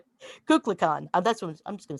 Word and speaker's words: Kukulkan: At sunset on the equinoxes, the sun's descent from the top of Temple Cuckoo. It's You want Kukulkan. Kukulkan.